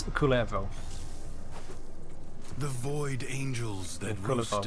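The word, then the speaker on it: Kullervo: Yeah, the pronunciation, as far as I've heard, is Kulevo.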